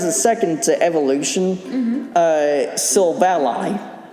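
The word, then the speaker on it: Silvally: second to evolution uh sylva ally which i've always pronounced it as seoul valley but it was it's actually derived from the silver and ally okay uh yeah and then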